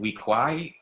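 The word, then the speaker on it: Weequay: These are humanoid species from the planet of Sirlor, and you pronounce it Weekwai. Weekwai kind of sounds Caribbean, maybe a little bit,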